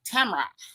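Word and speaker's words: Tamra: Notice I said it right. Tamara.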